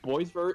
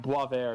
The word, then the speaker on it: Boisvert: Folsom Also, Pi- fun fact, I apparently learned Boisvert isn't the actual name or actual pronunciation. Oh. It's pronounced Boisvert, it's French.